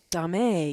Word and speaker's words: domme: So that's the DOMME, which usually means a female dom. So, and like I said, some people call it dame, some people call it